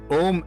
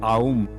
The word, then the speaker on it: Om: sure this session is complete in itself is Om itself is made up of 3 syllables, A, U and M.